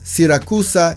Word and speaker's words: Siracusa: It is located on the southeastern coast of Sicily in Italy, facing the beautiful Ionian Sea, and it is pronounced as Siracusa in Italian.